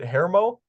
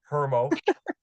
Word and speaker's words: Hermo: It's is it Hermo? Yeah. So it's actually Hermo, but it's probably Hermo. actually like that's actually probably how you're supposed to pronounce it, but for whatever reason it's Hermo. It's the Hermo.